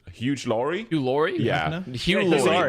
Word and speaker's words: Hugh Laurie: Hugh Laurie, not Huge Laurie.